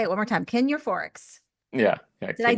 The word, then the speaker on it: Kin Euphorics: Kin Euphorics.